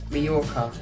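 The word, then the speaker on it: Mallorca: uh where landed I've gone to mayorca it is um pronounced that by the way guys um so yeah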